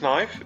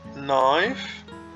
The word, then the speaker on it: knife: Like knife, it's not knife, it's knife. It becomes knives. So when we have a K followed by an N, the K is silent.